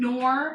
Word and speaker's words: Knorr: Knorr.